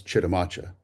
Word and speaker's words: Chitimacha: They looked upon that great lake, named it, and forevermore became Sitiamaxa, which is the origin of what we now pronounce as Chitimacha.